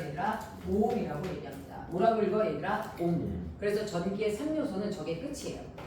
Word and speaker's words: 옴: 뭐라고 읽어요, 얘들아? 옴.